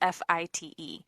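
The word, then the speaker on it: Fite: Department detective named Carl fight I believe it's pronounced it's fi te he ended up getting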